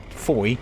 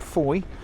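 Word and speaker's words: Fowey: So that's really quite an important facet of the Du Maurier story and her links with Foy and Cornwall. Now, listen to that word Foy, tell you more about that soon.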